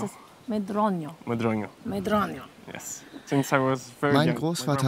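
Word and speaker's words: Medronho: How do you pronounce it? Medronio.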